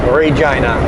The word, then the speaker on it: Regina: And yes, it's pronounced that way, Regina.